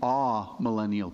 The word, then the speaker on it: amillennial: The popular view now is the amillennial. It's the letter A and then millennial, and it's pronounced amillennial.